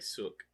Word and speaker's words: Seok: Say it like Sook.